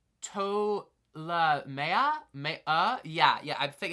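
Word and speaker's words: Ptolemaea: righty tracka seven uh another P silent I believe it's pronounced TOA May yeah yeah I think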